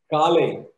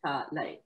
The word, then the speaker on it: Kalai: Kale. Kale. Kalai. Kalai. Kalai. Yes, Kalai.